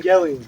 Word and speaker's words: Evangelion: Evangelion.